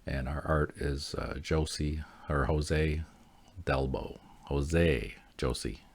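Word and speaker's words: José: our art is uh Josie or Jose delbo Jose Josie yeah the J is silent Jose um so this is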